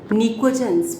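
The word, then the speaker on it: pnictogens: निकोजेंस, PNICOGENS, निकोजेंस. P silent है बेटा, पी को बोलते नहीं, प्रोनाउंस नहीं करते. तो इट इज निकोजेंस.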